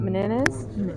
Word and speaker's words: Las Meninas: Meninas.